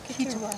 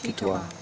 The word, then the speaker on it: Kituwa: Yeah, the Kituwa, how do you say it? Kituwa. Kituwa. Okay, Kituwa.